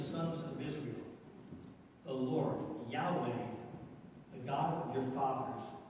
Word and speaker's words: Yahweh: Yahweh. We don't know exactly how to say it. We settled on, did he just read it? Pretty much settled on Yahweh.